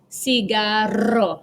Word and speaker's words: cigarro: This makes a rolling R sound, which we don't have in English. And example is carro, cigarro.